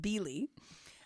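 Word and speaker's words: Bily: clocks it's b i l y but it's pronounced b lee okay it's closed for the season so it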